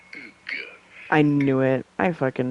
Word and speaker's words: Hugues: In French, in France, it is said as Hugues.